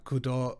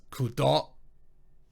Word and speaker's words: Kudo: Because for some reason, whenever it's a Japanese name, they tend to pronounce the last syllable. So instead of kudo, it's kudo, which is just wrong.